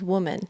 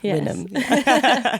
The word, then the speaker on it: Wynnm: There's been a lot of the mispronunciation of my name in my life, but we set the record straight here. Yes. Wynnm.